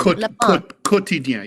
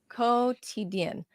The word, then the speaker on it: Quotidien: side, it's Le Pain Quotidien. Is that right, Ted? Quotidien. You do not pronounce the U. It's as if it's just quotidien. Quotidien.